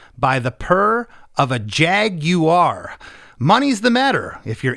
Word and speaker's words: Jaguar: Jaguar is the way the British pronounce the car that we call Jaguar. I didn't know that. Yes. Okay. The true British pronunciation for that is Jaguar.